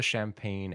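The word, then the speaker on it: champaign: It's pronounced like champagne. Okay, it's written here as a gn, but it has to be the same word. With spirit enraged sets all the champagne and the flood on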